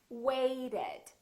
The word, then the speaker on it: waited: Listen to this: waited, waited. So this ED has an extra syllable. So we actually say waited.